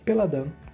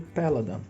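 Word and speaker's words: Péladan: Vamos tirar um outro exemplo, que será o método Peladan ou método Peladan, depende da sua pronúncia. Eu chamo de Peladan.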